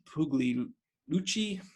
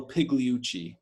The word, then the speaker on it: Pigliucci: a stoic by Massimo public boogly gucci i know i'm i should i'm italian i can t pronounce that name but Massimo Pigliucci is probably the correct way obstacles away by Ryan